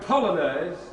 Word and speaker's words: Polonaise: I can't remember, but I know it rhymes with Bolognese. So, I'm good, aren't I? It's a wonder vaudeville died. Ladies and gentlemen, Scripps! Thank you very much for the Chopin Polonaise, number 6 in A-flat.